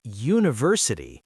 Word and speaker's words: university: Because when you say university, it sounds like university. That U sound at the beginning is a consonant sound.